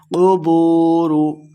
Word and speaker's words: قبور: کے ساتھ پڑھنا ہے۔ قبور، قبور، قاف کو موٹا پڑھیں گے، بو واو مدہ ہے، اس کو 2 حرکات لمبا کر کے پڑھنا ہے۔ قبور بعثرت، عین کو